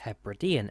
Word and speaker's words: Hebridean: this video i have now realized that my pronunciation for most of this is completely off the airline is her bridean air services and i fly to